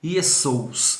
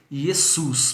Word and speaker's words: Jesus: Então, mas só que você não vai ler Iesous, você vai ler Jesus, porque o O e o U vai ser o O e o ômicron e o Y, né?